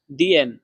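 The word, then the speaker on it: 点: তারপরে দেখেন দিয়েন, এখানে চাইনিজের 3 নাম্বার টোন ব্যবহার করা হয়েছে। দিয়েন। 3 নাম্বার টোন উচ্চারণের নিয়ম হচ্ছে উপর থেকে নিচে, আবার নিচ থেকে উপরে। দিয়েন, দিয়েন, এটা এভাবে উচ্চারণ করতে হয়।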